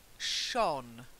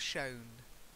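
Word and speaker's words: shone: it's like fire okay then Shawn not shown to shine Shawn its Shawn Shawn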